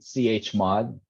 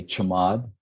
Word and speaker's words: chmod: some people say chod some people say chamod you know yeah some people just spell it out chmod like whatever is more convenient for you I say chamod I've heard other people say CH mod um just really up to you but but to answer